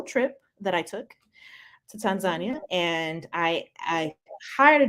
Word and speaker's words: Tanzania: I learned that it's actually not pronounced uh Tanzania it's pronounced Tanzania oh and I was able to yeah that's what the locals have that's what the local said Tanzania and the first thing I asked was I